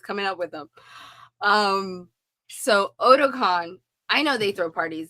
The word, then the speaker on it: Otakon: Then I know at Ahsoka-tan, you guys throw parties there too, right? Did I say it right? Otakon. Otakon. Otakon. I said Ahsoka-tan.